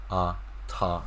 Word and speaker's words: 他: So 他, but you got like exact same pronunciation, ta, right?